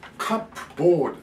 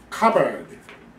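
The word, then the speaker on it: cupboard: 言いますけどね皆さんカップボール発音しませんか違いますまずここここで最初のここだけこっちはこの動物と同じですよカバーカバーここが強いですカバー 2 回言って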